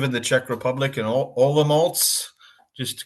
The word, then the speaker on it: Olomouc: the Czech Republic in Olomouc. Just to correct the pronunciation, your pronunciation of the university was perfect, Palacký, but the city's pronounced Olomouc.